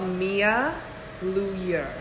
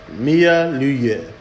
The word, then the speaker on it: Mia Luyer: So it is called Mia Luyer. Mia Luyer. Luyer obviously is French.